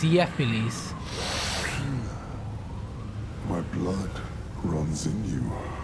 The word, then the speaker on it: Gephiles: Right, it's pronounced Yephiles.